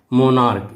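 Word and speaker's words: monarch: जैसे मोनार्क, देखिए बच्चों मोनार्क, इसमें अंत में सी एच आया हुआ है, ओके, लेकिन इसका जब हम उच्चारण लिखेंगे तो इसे हम लिखेंगे मोनार्क। का उच्चारण आ गया है, लास्ट में का ध्वनि आती है, इसलिए इसमें हम एस लगाएंगे।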